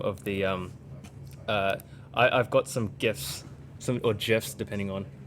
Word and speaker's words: GIF: Basically, the guy who created GIF said it's pronounced GIF, but it's graphics interchangeable format, and you don't pronounce.